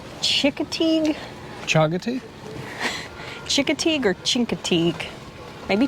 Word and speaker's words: Chincoteague: I'm gonna guess, because I think I've heard somebody say Chincoteague?